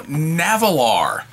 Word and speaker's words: Nahvalur: or two you know navalar or narwhal now uh i'm told it's pronounced the same way even though the company changed their name get a bag here